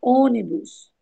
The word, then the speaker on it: ônibus: No caso da palavra ônibus, o acento circunflexo na vogal O indica que ela forma a sílaba tônica. E o som é fechado aí, ó, ônibus, forte, e que essa